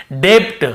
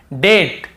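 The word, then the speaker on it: debt: के पहले बी है तो हम यहां पे ब को नहीं पढ़ेंगे मान लो ये नहीं होता तो हम कैसे पढ़ते डेप्ट हम कैसे पढ़ते ऐसे पढ़ते हम डे आधा ब और ट डेप्ट ऐसे पढ़ते लेकिन क्योंकि हमें बी को नहीं पढ़ना है टी के पहले तो केवल डेट डेट फिर देखिए डाउट डाउट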